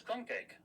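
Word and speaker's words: krumkake: I want to know, do you think that word is pronounced kum crumbake? No, it's crumb cake. Are you sure it's not crumb kakeake? Uh crumb kake.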